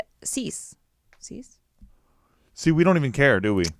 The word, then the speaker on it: Seuss: yeah so well his mom's maiden name is Seuss hmm it's actually pronounced seize seize see we don't even care do we